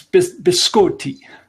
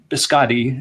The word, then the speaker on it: biscotti: cut it out right and yes bisque or tea I think it's the correct pronunciation I always get corrected about that when I say that around you know people that are slightly more Italian than me they do say you can't say just biscotti it's wow so did